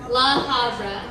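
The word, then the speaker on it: La Habra: How do you say it? Havra? La Havra.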